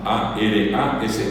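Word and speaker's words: arasa: Así como se escucha. Sin acento, sin usó, sin asalidad. Araa. A r a s a aras.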